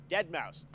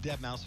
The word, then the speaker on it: Deadmau5: This is your good friend Joel, professionally known Normally as does his set Deadmau5. from inside a huge Yes, cube. that is the correct way to pronounce it.